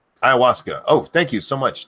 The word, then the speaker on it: ayahuasca: not surprising no diesel Dave says pronounced ayahuasca ayahuasca oh thank you so